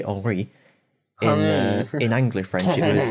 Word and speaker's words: Henri: they all said, like modern French, they say Henri.